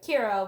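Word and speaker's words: キラ: After a while, like, killing all these people starts to get this identity of Kira, which is a Japanese pronunciation of the English word killer.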